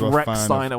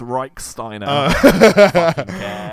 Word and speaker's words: Reichsteiner: of anime he said his surname was Rex Steiner when actually it's pronounced reichsteiner reichsteiner that would be really